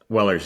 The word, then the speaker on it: Weller: it's Wellers. Yeah, I think it's the S at the end.